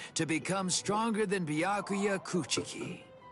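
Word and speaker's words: Kuchiki: become stronger than byakuya coochi you almost said coochi wrong you you you actually pronounced the CH a little bit too hard discouraging isn't it it's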